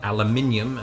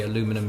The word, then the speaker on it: aluminium: let's look at aluminum we say and write aluminium back in the UK and you say aluminum here well well aluminum was